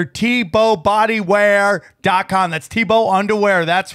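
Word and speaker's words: TBô: Okay, Tebow is pronounced Tebow, just like Jason Tebow.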